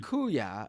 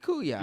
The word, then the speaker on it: kuya: as my sister also it's pronounced kuya brother in Tagalog I I said kuya didn't I kuya didn't